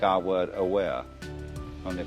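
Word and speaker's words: あわれ: It's spelt like our word aware, only pronounced Aware.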